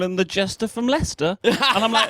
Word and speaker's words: Leicester: him the Jester from Leicester. And I'm like, "No, it isn't. Jester rhymes with Lester.